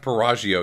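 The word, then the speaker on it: Piaggio: just good it's it's it's pronounced pagio you ignorant bastard I'm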